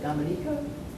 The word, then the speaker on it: Dominica: and now she lives on the island of Dominica in the Caribbean did I say it correctly